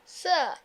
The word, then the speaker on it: sir: যেমন স্যার, স্যারের রটা ব্রিটিশ ইংলিশে কি হয়ে যায়? সাইলেন্ট হয়ে যায়। তাহলে কি বলবো তারা? স্যার, right? Can you help me স্যার? কি হবে তাহলে সেটা? স্যার। sir, অলরাইট, রয়ের পরে যদি